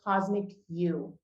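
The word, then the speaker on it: Cosmiq: instead of a c so it's actually pronounced Cosmic q but I made the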